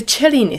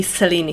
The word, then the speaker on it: Cellini: Cellini spiral, actually some people call it the Cellini spiral, and they are right. That's how it should be pronounced. But the more established pronunciation in bead community is more likely to be Cellini spiral.